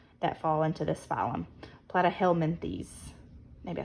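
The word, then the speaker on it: Platyhelminthes: are your flat worms than plat rhymes with flat these are your flat worms that fall into this phum plat helenes maybe I said that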